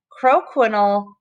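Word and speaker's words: croquignole: about roughing techniques so the way you pronounce this word is crow panel crow quinol hair is hair wrapped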